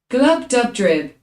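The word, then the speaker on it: Glubbdubdrib: Glub dub drib. Glub dub drip, okay.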